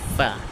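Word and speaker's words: ف: তারপর হলো ফা ফা। আমরা এটা জানি 14 নম্বর মাখরাজ পড়ে আমাদের, যে নিচের ঠোঁটের ফ্যাট সামনের উপরে দুই দাঁতের আগার সঙ্গে লাগাইয়া ফা ফা ফা ফা।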